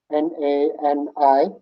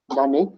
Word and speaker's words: nani: Where is nani, N-A-N-I, nani. And it sounds like nun, church nun, with an E on it, nani.